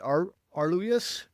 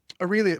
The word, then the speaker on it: Aurelius: Arluas Aurelius Marcus Aurelius Marcus Aurelius and Cynica and I think we're going to press into that a little bit.